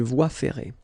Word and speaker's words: voie ferrée: Une voie ferrée. Final here not pronounced, and then this one is not pronounced either. Une voie ferrée.